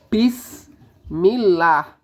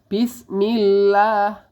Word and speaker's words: bismillah: cara membacanya bismillah ya pada lafaz Allah ini ada huruf mad thbii'i atau harakat fathah yang berdiri ini panjangnya adalah dua harakat jadi cara membacanya bismillah ya tidak boleh terlalu panjang atau melebihi dua harakat lalu patokannya dua harakat